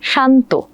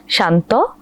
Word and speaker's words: শান্ত: প্রথমটি হল শান্ত। পরেরটি হল শান্ত। অর্থাৎ প্রথম উচ্চারণে ন আর ত যখন সংযুক্ত অবস্থায় ছিল আমরা তখন অ এর মত করেছি। শান্ত। পরেরবার আমরা ওকারান্ত করেছি। শান্ত।